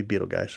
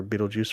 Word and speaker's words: Betelgeuse: This is going to be Betelgeuse or Betelgeuse or Betelgeuse, whichever you want to pronounce it.